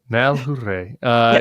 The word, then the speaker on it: Malhuret: Malhuret.